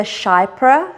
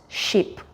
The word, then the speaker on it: Chypre: Now when I was there, I was actually calling them the Chypre sandals, but my sales assistant in Paris, who is French herself, told me it's pronounced Chypre sandals.